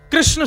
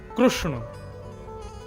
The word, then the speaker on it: कृष्ण: बहुत लोग अशुद्ध बोलते कई लोग कृष्णा बोलेंगे कई कृष्ण बोलेंगे कई कृष्ण बोलेंगे कई कृष्ण कृष्ण पता ही नहीं क्या क्या बोलते हैं कृष्ण शब्द शुद्ध उच्चारण नहीं करते हमारे गुजरात में चले जाओ कृष्ण कृष्ण रुक्मणी नहीं रुक्मणी कृपा नहीं कृपा हृदय नहीं हृदय गुजरात की भाषा अलग है लेकिन वास्तव में कृष्ण ये शुद्ध उच्चारण तो महात्मा ने उसको